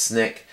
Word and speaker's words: SNCC: And SNCC, SNCC, usually pronounced SNCC, the Student Nonviolent Coordinating Committee.